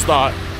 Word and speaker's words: Gstaad: the whole time just start it's it's just pronounced start but that start in